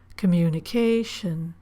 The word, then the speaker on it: communication: We don't stress shun. We stress the syllable or lengthen the vowel in the syllable before shun. Graduation. Communication.